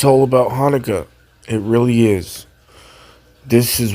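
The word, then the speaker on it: חנוך: In Hebrew, Enoch is pronounced Hanukkah, and it's from the word Hanukkah.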